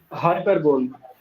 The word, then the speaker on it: hyperbole: Hyperbole. No. It is hyperbole. Okay. Hyperbole. Not per. It's hyper. Hyper.